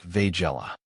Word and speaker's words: Weigela: Of course, I've heard some folks say it with a more V sound at the beginning, like Weigela. Apparently, that's closer to the original German pronunciation.